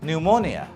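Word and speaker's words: pneumonia: Like নিউমোনিয়া, নিউমোনিয়া শব্দটা বলতে গেলে পি এন দিয়ে শুরু হয়, কিন্তু এটার উচ্চারণটা হচ্ছে নিউমোনিয়া।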